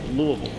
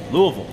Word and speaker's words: Louisville: And I want to make sure it's Louisville. Louisville.